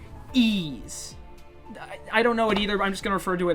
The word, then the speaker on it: Ys: to see this game wise wise origins are actually pronounced e's i don't know it